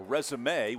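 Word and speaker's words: résumé: out with W's a resume with the emphasis on the second E if we're saying it right has Reagan as a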